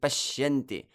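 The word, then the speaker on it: paśyanti: And similarly with pashyanti. Pashyanti. That sh, the sh is kind of prolonged to give the heaviness to that syllable.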